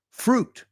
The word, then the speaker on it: fruit: Otro que es del mismo estilo, fruit. Fruit. Fruit. You know, I know, because in Spain you don't skip syllables. But in English, that's par for the course.